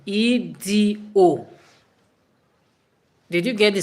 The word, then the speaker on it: Edo: Not Edue. No, Edo. Did you get the spelling? Elshu. Edo.